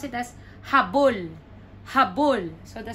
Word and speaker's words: habol: That's H-A-B-O-L. So the first one, the stress is in the middle. So that would be pronounced as habol.